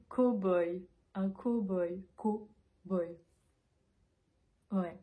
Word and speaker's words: cow-boy: ou une vraie ce mot on va le prononcer cowboy un cow-boy co boy way possible ce mot